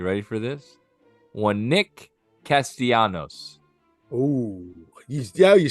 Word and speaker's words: Castellanos: we go you ready for this one Nick Castellanos oh he's yeah you said it right kudos